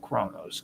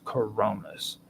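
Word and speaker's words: Coronis: Kronos there's coron cor Coronas Coronas not coronos Coronas and you spell that with c r o n i s and I have to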